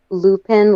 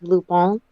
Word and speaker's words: Lupin: there as a suggestion it's spelled as Lupine like it reads as Lupine but it's loophone uh it's basically if you